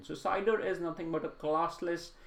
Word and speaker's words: CIDR: IP address' this is something called CIDR or we pronounce it as cider you might notice that